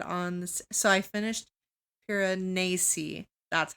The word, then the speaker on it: Piranesi: So I finished Piranesi.